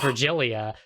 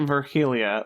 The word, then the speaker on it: Virgilia: Okay, I was pronouncing it Virgilia, like an H sound for the G. That's not right? No, It's I think Virgilia. it's like after Virgil, the Aeneid and all that.